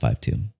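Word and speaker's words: KJ-52: It's pronounced 5'2".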